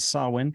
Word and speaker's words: Samhain: I know it's spelt a little differently there, but it is indeed Samhain, which was about celebrating